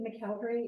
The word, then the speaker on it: McElderry: And it is funny talking about my name, because I was actually born McElderry, but McElderry is how it is pronounced in Baltimore County, Maryland.